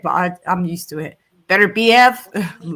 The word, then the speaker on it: Beterbiev: I don't know what the pronunciation for his. I probably said that one wrong. I hate how you lot say Beterbiev.